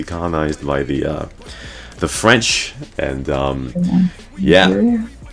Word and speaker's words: Niger: It's a country in Africa that used to be colonized by the French, and Nigeria? Not Nigeria, no, Niger. That's how you say it.